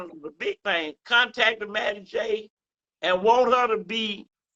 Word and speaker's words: Mattie J: I'm at Maddie J, MattiEJ. All of that's one word. I'm also on Facebook TV under Maddie J, MATT. The second T is silent.